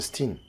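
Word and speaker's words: Stine: Non, mon nom se prononce Stin.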